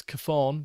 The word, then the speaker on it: Chthon: See, look, it's very, very hard to pronounce unless you've heard someone else pronounce it. I'm presuming it's Chthon, but I'm not 100% sure.